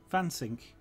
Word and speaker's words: Wansink: But when I, the way I normally pronounce it within his hearing is with a very soft N. It's almost not there.